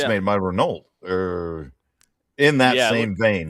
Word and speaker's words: Renault: Renault. But that's Renault. that's not how they say it. Renault. Who says it? The Europeans. Oh. They say it Renault or something like that.